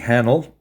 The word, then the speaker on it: Hahnel: with me today we have from the Calgary area in Alberta, Laurie Hahnel. It rhymes with panel, and we're talking about Flicker, her latest novel, along with all sorts of other subjects.